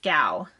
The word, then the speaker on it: Gao: for anyone who's wondering how to pronounce my last name now it's gao so it's i get